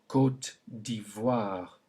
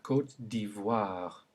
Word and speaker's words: Côte d'Ivoire: But when it's followed by an I to make OI, we then get the sound wa, as in la Côte d'Ivoire. Say it. La Côte d'Ivoire.